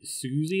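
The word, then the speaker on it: Siouxsie: Is it, like, is it Susie and the Banshees? Oh, yeah, Susie and the Banshees, yeah. Is that how you pronounce that name? I think so, yeah. Mum's a fan. Because it's like S-I-O-U-X-E, and it's like, yeah.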